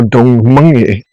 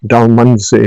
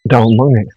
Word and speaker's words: Dalmunzie: This is me at Dalmunzie Castle Hotel, or Dalmunzie, is what it's pronounced correctly. A lot of people call it Dalmunzie, but its correct pronunciation is Dalmunzie.